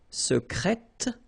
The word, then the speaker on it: secrète: Okay, so I tend to insist a little bit on it just to make you hear the difference between the masculine. Secret, secrète. Okay, so you're pronouncing the T.